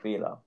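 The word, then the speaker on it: Bela: You write it B Okay. E L A and you pronounce it Bila. Bila. Similar, but you pronounce the E different. Actually, in German, you don't pronounce an E like an E.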